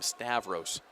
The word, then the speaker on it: Stavros: Vancouver, and he says all of his Canadian family does call him Stavros. There's no such thing as a short A in Canada.